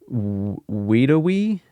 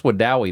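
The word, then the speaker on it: Wedowee: about pronounce this town right here? Weedawee? Vedavi? I would run you through with a sword so fast. See? I would just cut your head off. No, that's Wadowee, man. Wadowee.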